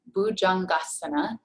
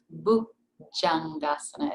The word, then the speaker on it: Bhujangasana: a baby cobra um bujangasana is what it's called this is a common mispronunciation as well there is no ja sound in sanskrit so it's not bhujangdasana it's a heart jay